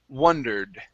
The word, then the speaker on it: wondered: uh in the story this is an a sound okay the other word has an o and that's uh wondered right so we have wandered wondered try the difference there